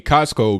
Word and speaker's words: Cosko: Cosko, not the store. His name is spelled Cosko, 27 years old, for posting addresses and private information of senators, according to the police department.